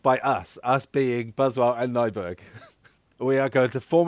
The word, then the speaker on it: Nyberg: Nyberg. Nyberg. Wow. Can I just call you Nyberg? Yeah. Yes. Buswell and Nyberg's Dutch Orchestra Challenge. So it's a new challenge by us being Buswell and Nyberg.